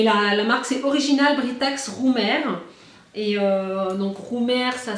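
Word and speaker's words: Römer: Mais la marque, c'est Original Britax Roumer. Et donc, Roumer, ça s'écrit comme ça.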